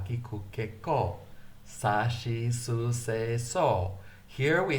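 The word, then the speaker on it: し: Sa, shi, su, se, so.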